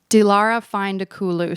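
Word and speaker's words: Dilara Fındıkoğlu: that she wore by, I'm going to like butcher the name of this designer, but it's Dialara Vine de Cool.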